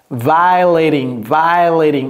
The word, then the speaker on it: violating: Alright, donc ça, ce n'est pas vow, c'est violating, ouvrez grand la bouche. Violating. Ce n'est pas vow, ce n'est pas non plus VO.